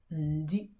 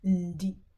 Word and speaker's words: ndi: Ndi. In fact, when you're pronouncing it, you can hear a little bit of a n.